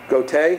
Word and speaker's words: Goethe: Johann Wolfgang van Goethe, is that how to pronounce that, Matt?